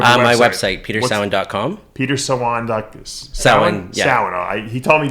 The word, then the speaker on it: Sawan: Sawan. Yeah. Sawan. He told me before I had to show how to pronounce it.